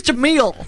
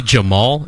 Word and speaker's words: Jamil: He's Jamil. Jamil. There's like 2 syllables to that vowel. Shouldn't he be Jamal if you're from Oakland?